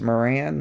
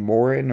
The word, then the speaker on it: Moran: they don't know that it's pronounced Moran they keep saying Morin or